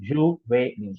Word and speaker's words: juvénile: So juvenile. The accent here really impacts the pronunciation. Juvenile. That's how the pronunciation is.